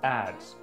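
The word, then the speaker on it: adze: weird thing the ads this word is pronounced as ads ads means a heavy tool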